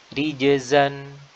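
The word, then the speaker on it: رجزا: Ya, di Al-Quran ada rijzan, rijzan yang artinya hukuman, ya, atau azab. Dan ini menggunakan huruf zai. Ada lagi rijsan, rijsan bisa bermakna kotoran atau najis, ya, dan menggunakan huruf sin.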